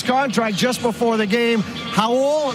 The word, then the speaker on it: Raul: just before the game hul not Raul hul nle from Brazil who's played in Spain it's like haar ruio you don't pronounce the r but welcome to the